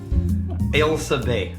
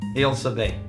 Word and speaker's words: Ailsa Bay: All right, we're drinking, and I'm going to pronounce it correctly, and then you can destroy it. Ailsa Bay. That's what I said. Ailsa Bay. Ailsa Bay.